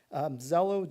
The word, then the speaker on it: Xello: Zello, just to put a plug in here for any parent listening tonight, if you have a chance to talk to your student about Zello, it's spelled Xello.